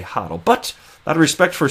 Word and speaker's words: HODL: not a real word, there's no right or wrong way to say it. It's not in the dictionary. And until it is one day, and I'm told how I'm supposed to pronounce it, I'm going to say HODL.